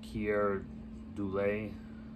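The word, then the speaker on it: Keir Dullea: get joseph bottoms christie alley james daughton and kierr doulay that's how you say his name uh martina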